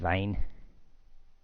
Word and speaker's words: Wein: Das Wein. Yeah, because the W pronounced as a V.